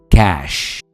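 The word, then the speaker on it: cache: memory write इसे कहेंगे कैश जैसे पैसे होते हैं कैश वैसे ही कैश नंबर फोर पर है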